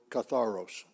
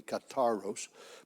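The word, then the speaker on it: καθαρός: because of the French they pronounce the th just like a t so that would be kataros but catharos I'll do that that word is translate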